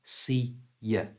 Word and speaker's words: see ya: But to pronounce it naturally, we change the oo sound out of you to the schwa sound, and it becomes y. So the whole thing is see ya.